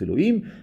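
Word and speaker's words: אלהים: Il y a le premier Shem Yud Kei Vav Kei qui ponctue Elohim, donc on le prononce Elohim.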